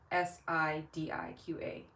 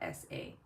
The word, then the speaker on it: Sidiqa: So for Emmanuel and Dakota, my first name is spelled with an I. So it's Sidiqa, not Sasi.